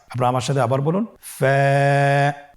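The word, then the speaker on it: ف: হরফ আমরা দেখতে পাচ্ছি আপনারা আমার সাথে বলুন ফা কফ কাফ লাম মিম নুন ওয়াও হামজা ইয়া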